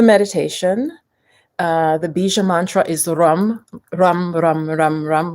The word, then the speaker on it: ram: The bija mantra is rum, rum, rum, rum, rum. Like it's spelled RAM, but it's not pronounced quite that way.